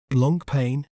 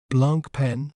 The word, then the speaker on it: Blancpain: understand its pronunciation in British accent we may pronounce it as Blanc pain Blanc pain Blanc pain Blanc pain while in American accent we may pronounce it as Blan pen Blanc pen Blanc pen Blanc pen it refers